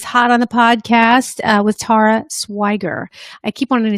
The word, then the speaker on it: Tara: I already did that, and episode 61 is hot on the podcast with Tara Swiger. I keep wanting to say Tara because I'm Kara, she's Tara. No, it's Tara.